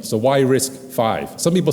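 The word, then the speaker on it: RISC-V: I risk I I it's a Roman numeral you pronounce it five right so risk five well we went back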